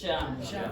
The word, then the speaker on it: jam: Jam. Jam. Jam. Jam. Sham. Some of you pronounce this like jam. It's not j, it's dj. It's j. It's like there's a little D before that sound.